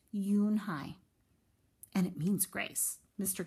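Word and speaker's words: Unhei: Kim then turned to Joey she nodded slowly yes it's pronounced you and I and it means grace mr.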